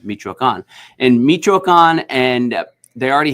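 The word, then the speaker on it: Michoacán: There's an accento at the end, Michoacan.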